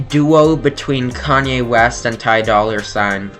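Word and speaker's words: Ty Dolla $ign: Uh, it's a duo between Kanye West and Tai Dollar. Ty Dollar Sign uh to pronounce it more correctly.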